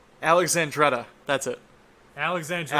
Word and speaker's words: Alexandretta: It's Alexandretta. That's it. Alexandria. Alexandretta. That's how it's For pronounced, what?